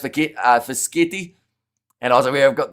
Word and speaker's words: Fischetti: It's pronounced Fischetti.